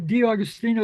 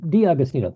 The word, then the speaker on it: D'Augustino: be here yeah did am I pronouncing your name correctly uh yeah you're you're pretty good D austino is what my parents have always uh how they pronounced it so that's it's